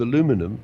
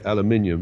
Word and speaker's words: aluminum: two sheets of aluminum I'll give it the American pronunciation we Brits normally say aluminium but I guess I feel there's always giving me trouble so since you're in New York I'll call it aluminum right so you have